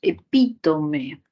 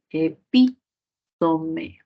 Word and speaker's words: epítome: Luego tenemos epítome, tilde en la I, epítome, justificación esdrújula, ¿no? Igual que cardiógrafo.